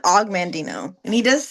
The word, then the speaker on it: Og Mandino: Um, he pronounces it Og Mandino, and he does say like that his name is kind of weird.